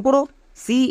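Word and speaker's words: Christ: আর আই এস ক্রিস এখানে টি কিন্তু silent এবার কেন সাইলেন্ট এর জন্য সাইলেন্ট লেটার এর ক্লাস দেখে আসতে হবে এখানে টি এর উচ্চারণ হবে না টি সাইলেন্ট নেক্সট এম এস এর উচ্চারণ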